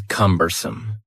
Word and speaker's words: cumbersome: The next word is cumbersome. The word cumbersome has 3 syllables. and the stress is on the first syllable.